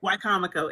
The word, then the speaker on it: Wicomico: Oh, I appreciate that tidbit because I keep mispronouncing it. So it's Wicomico, correct? Wicomico.